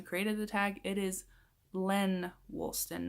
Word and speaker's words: Lenn Woolston: Christmas tree in the background and I also mispronounced the name of the person who created the tag it is Len Woolston not Jen Woolston so I apologize for that I am terrible